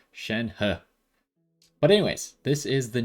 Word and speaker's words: Shenhe: going to be wishing for shen ha i'm pretty sure that's how he said it in the live stream he's chinese i'm not so i'm gonna assume that he is correct um in the pronunciation of shen ha but anyways this is